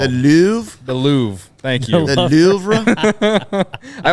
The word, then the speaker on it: Louvre: like they should hang that in like the lover or whatever you know what I mean whatever it's called the Louvre the Louvre thank you I always forget how